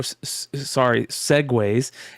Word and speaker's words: segue: Yeah, I like Segoo. I'm going to start using that. That's I try to use it, and then I forget how stupid the pronunciation is, so I just say segue.